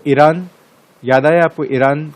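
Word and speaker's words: Eyre: हाँ, ये लेक ए, आपको पता है इसका प्रोनाउंसिएशन क्या है, लेक आयर नहीं है ना, ईर है, लेक ए।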